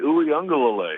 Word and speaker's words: Uiagalelei: That's pretty good for a Monday to be that much on your game for the pronunciation of the Clemson quarterback. Can you do that again? DJ Uiagalelei.